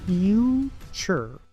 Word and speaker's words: future: Muchos pronuncian esta palabra future o future, pero aquí la primera U se pronuncia U, la T se pronuncia como TCH, la segunda U es muda y la E al final es muda. Future.